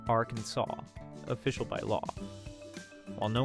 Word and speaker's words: Arkansas: In 1881, Arkansas legislators were tired of the debate over whether their state should be pronounced our Kansas or Arkansas. To settle the matter, they made the correct pronunciation, Arkansas, official by law.